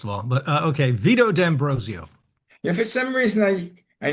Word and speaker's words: D'Ambrosio: Yes, it's the correct pronunciation is D'Ambrosio, And but D'Ambrosio.